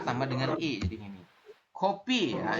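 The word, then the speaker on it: 커피: Kopi ya. Ini tulisannya keopi tapi dibacanya kopi.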